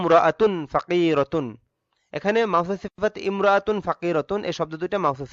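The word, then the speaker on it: امرأة: ফাকিরাতুন, এখানে মাওসুফ সিফাত ইমরাআতুন ফাকিরাতুন, এই শব্দ দুইটা মাওসুফ সিফাত, কিন্তু ওই যে মিলিয়ে পড়ার কারণে ইমরাআতুন শব্দের আগের এই কোনো শব্দ থাকলে আলিফটা উচ্চারণে আসবে না, এজন্য এখানে উচ্চারণটা এরকম হবে, রায়হানাতুম রাআতুন ফাকিরাতুন।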